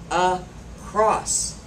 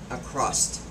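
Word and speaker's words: across: very common everyday word it is pronounced a cross not a crust it's better to keep the paths of a cross and crossed from crossing okay it is not a crust there's no t in it we all know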